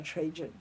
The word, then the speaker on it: Trajan: He died and he committed suicide because he was conquered by 我们现在叫 Trajan，其实叫的我们现在叫吹喊，因为我们的人很多都念西班牙文，所以看到他的名字就念成吹喊。其实那个皇帝是罗马皇帝，应该叫 Trajan 或者 Trajan 这个罗马皇帝在 Trajan 的时代，在西元173年是罗马帝国 the largest territory